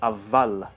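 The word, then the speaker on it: اول: The Arabic word for first is awwal, but in Persian it's avval. So there we have the waw becoming pronounced like a vav.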